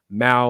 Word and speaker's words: Mao: it says well said my tag name is mao like maui i wanted to make sure